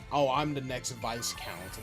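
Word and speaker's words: viscount: Yeah, I learned recently that it's actually pronounced vice count and not this count.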